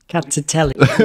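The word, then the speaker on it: Rkatsiteli: the next one, which is, You got to pronounce the grape variety for this one. Rkatstiteli. which is thank you for saying that. I was shaking in my boots. Rkatstiteli, which is another white wine from Georgia, and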